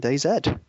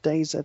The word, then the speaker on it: DayZ: to playing DayZ, and it's pronounced DayZ. Some people, well, the Americans can say DayZ because that's how they pronounce Z. Like they say zebra instead of zebra. But Z, in case people haven't realised, DayZ means it's the end of days.